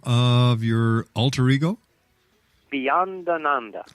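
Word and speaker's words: Beyondananda: pleasure Steve uh once again how do you pronounce the name of your altero Beyond Ananda Beyond Ananda Anand a lot all the swamis have Ananda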